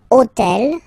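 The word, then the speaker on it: hôtel: took on purpose this otel okay because it starts with Ash but remember that in French we don't pronounce Ash okay so basically the first sound of the word is the vowel o okay so for the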